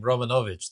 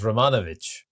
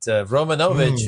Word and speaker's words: Romanovich: And I like the way you pronounce my last name, Romanovich. That's the old-fashioned way. Typically, Americans and globally, they will pronounce it as Romanovich. But Romanovich is the Eastern European way, which is great.